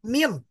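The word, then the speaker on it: من: Ini dibacanya min karena ini masih belum diharakati. Jadi kalau Ibu-ibu punya buku ya silakan diharakati. Karena ini ya kalau salah harakat maka maknanya beda. Karena kalau kita nulis seperti ini misalkan dalam bahasa Arab ketika nulis seperti ini mim dan nun maka ini cara bacanya bisa banyak. Ini tuh bisa dibaca min. Nah kalau kita baca min maka ini termasuk ke dalam haraf. Nah tapi bisa juga kita baca man.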